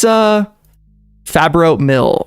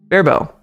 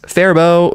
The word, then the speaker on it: Faribault: How do I say that? Ferrybolt pronunciation. Faribault. Yes, Faribault.